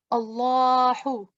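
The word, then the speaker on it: الله: And whenever there is a fatha or fatha ishbaiya or dhamma on it, we pronounce it in a thick sound, Allahu.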